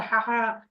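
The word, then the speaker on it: ح: আওয়াজ বের হইতে থাকে না বাতাসের সাথে একটা হাহা একটা আওয়াজ বের হইতে থাকে এই মানে এই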